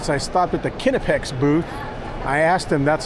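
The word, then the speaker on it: Knipex: Alright, so I stopped at the Kinepex booth. I asked them that's how you say it. They say it's called Kinepex.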